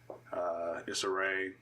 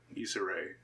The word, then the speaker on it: Issa Rae: in there anthony mackie disarray is that how you say her name is it's a ray he's already said Issa Rae she's the one who